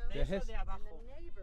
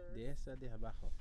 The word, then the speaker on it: Dehesa de Abajo: Dehesa de Abajo. Dehesa de Abajo.